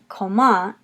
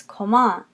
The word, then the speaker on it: comment: coma allez-vous comment allez-vous notice in coma allez-vous that it's coma whereas in English we say comment and we have that accent more on the first syllable in French it's coma you're going to accent